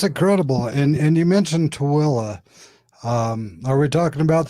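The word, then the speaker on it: Tooele: we know where you're talking we can actually pronounce to willa i know it's like he said it right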